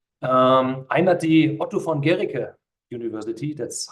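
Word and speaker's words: Guericke: I'm at the Otto von Guerricke University, that's how it's pronounced.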